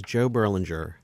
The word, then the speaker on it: Joe Berlinger: say your name so everybody knows how to pronounce them correctly when they're editing their own questions Bruce sinowski and my name is Joe Berlinger before filming was there no way to expect